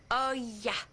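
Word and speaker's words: Hoya: C'est Calderon avec un accent sur le O et de la Oya. Ça s'écrit H-O-Y-A. Ok, je note, c'est bon. Oya.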